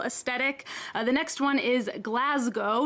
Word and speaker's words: Glasgow: of basic millennial aesthetic the next one is glasgow not glasgow as americans like me might want to say